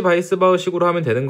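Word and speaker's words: Weisbach: 윌리엄스 식이라는게 있고요 달시 바이스 바 식이라는게 있습니다 얘가 이름이 뭐 원래 이렇게 뭐 이런 식으로 써 있는데 이게 영어가 아니어 가지고 바이스 바라고 읽는 것이 맞습니다 뭐 하젠 포 아질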